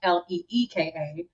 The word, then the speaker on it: Alyka: So with that, but because of the spelling of my name being a l y ka, the pronunciation is like l e ka.